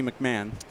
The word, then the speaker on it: McMahon: It's actually McMahon.